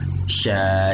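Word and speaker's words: ش: Kemudian ada huruf sya, sya, shi, shubash. Kalau bisa dibilang ini berarti S yang agak lebay. Ada ya-nya di situ. Kalau diliterasikan dia S Y A, sya. Ya, bacanya sya, shi, shubash.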